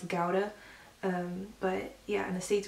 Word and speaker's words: Gouda: it was like Finley sliced meat and then Gouda which I got laughed at for saying it wrong in German it's pronounced of Gowda but yeah and the states we would always